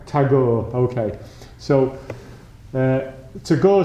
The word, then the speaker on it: Tagore: to go to go is it it's a hard G in Indian poet called to go is that is that not as your tagore okay so uh to